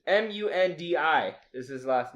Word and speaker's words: Mundi: I like how you pronounce I don't know how to. It's Mundi is his last name. That's Monday.